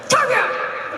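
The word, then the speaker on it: Torbjörn: This is how you say it. Torbjorn! Toblerone? Torbjorn! Torbjorn! All correct.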